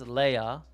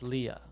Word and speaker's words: Leia: days oh okay princess oh Princess Leia in German and in English it's Leah oh cool I didn't